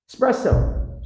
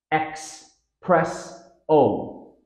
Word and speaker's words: espresso: not pronoun but prun espresso stress pattern s press o this word is frequently mispronounced as espresso there's no X sound in espresso common error X press o tip emphasize the S